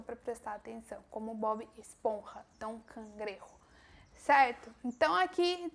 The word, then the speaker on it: Bob Esponja: Em espanhol, ele é Bob Esponja, com a mesma coisa, pronúncia do J.